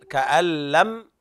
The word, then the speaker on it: كأن: طيب، كأن لم، النون لا تنطق.